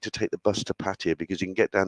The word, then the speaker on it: Pattaya: I said it right, like Pattaya.